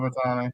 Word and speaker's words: Ohtani: Do they still have Shohei Ohtani? Oh, that's not how you pronounce it. They still have Ohtani.